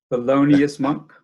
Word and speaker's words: Thelonious Monk: Wow, can you say his name? Thelonious Monk? Thelonious Monk. Right? Yeah, good.